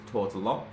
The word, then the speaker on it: Tourtellotte: And today we have Tortola. Pronounce that right?